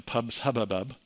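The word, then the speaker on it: PubSubHubbub: Nothing has moved in a massive way yet to pubs hubbub. I know that sounds like I'm stuttering, but that is actually how it's pronounced.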